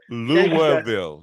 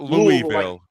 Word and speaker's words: Louisville: vows and acronyms but louville not Louisville yeah it all has